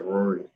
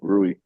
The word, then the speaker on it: Rui: the series Marie hachimura so he said Rory no I knew he was talking about rui sorry Ruby I can't